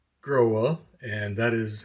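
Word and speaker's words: Grohe: about earlier by the way I did call grow up and that is how you pronounce it does not grow or growing so in any case this little fella screws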